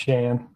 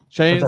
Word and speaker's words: Shan: My name's pronounced Shan. Shane, sorry. That's all right. Everybody messed it up. It's like Shane with no E or Shannon with no N-O-N. It's just Shan.